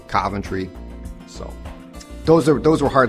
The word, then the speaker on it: Coventry: socket or one socket Coventry this one I hear pronounced in a couple of ways but usually not the British way which is Coventry the place that was bombed during World War II people I have often heard it said is Coventry those are those were